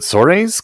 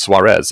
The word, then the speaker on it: Suarez: and I was like, is it Soares? Because that's how I've heard a lot. And he's like, honestly, I'll take whatever. There's a lot of ways to pronounce it, and I'm not particularly picky. In the original, it's Suarez.